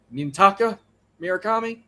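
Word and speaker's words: Munetaka Murakami: And third, I'm sorry if I can't pronounce it right, but Miraami for the White Socks. Minta Miraami.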